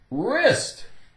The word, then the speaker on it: wrist: sort of thing wreckage wrist wrist W the W is silent r r r i s t IST is is okay and what